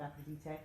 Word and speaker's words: Aphrodite: This month Aphrodite for Greek. For those who are wondering why I'm saying it that way, that's how you say it in the Greek.